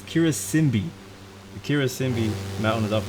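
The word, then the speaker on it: Karisimbi: Makeno Volcano, and on your right, you will see the Mount Kirasimba. Sorry, that's not how you say it. That's completely wrong. It is not Kirasimba. It's Kirasimbi.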